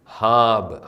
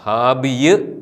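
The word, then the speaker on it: ܚܘܒܐ: ഈ പദം ഹാബ്, ഹാബിയ് എന്ന് വായിക്കേണ്ട ഹാബ്. ഇനി നമുക്ക് കുറച്ച് നമ്മളിപ്പോൾ പഠിച്ച 10 അക്ഷരങ്ങൾ ഉപയോഗിച്ചുള്ള ഏതാനും വാക്കുകൾ ഒന്ന് വായിച്ച് പരിശീലിക്കാം. വായനാ പരിശീലനം. ഉ എന്ന സ്വരത്തിന് ശേഷം വരുന്ന വാവ് ഉച്ചരിക്കുന്നില്ല.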